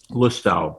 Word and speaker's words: Lustau: that red breast uh low tau is how you say it lustau lu style l-u-s-t-a-u it's like uh irish whiskey but